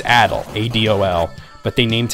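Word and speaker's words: Adol: the name character's name is Adil sometimes they mispronounce it in voice acting as a doll but it's it's Adil a DOL but they named him Arin aro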